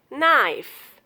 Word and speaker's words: knife: Knife, night, kneel, neck. Rule of silent letter L is exception.